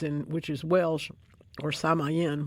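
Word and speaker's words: Samhain: which is Welsh or Samayen which is how I think it's pronounced that is another one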